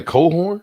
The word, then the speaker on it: Cochran: He was Say Cohorn? Yeah, that's how it's pronounced. Does it spell like that? It is. COCHRAN. I think that's how it's spelled. Yeah. Come on, dog. That look like Crohan. Cochran. Yeah, it does. That don't look like Colan. And that's how you spell it, though?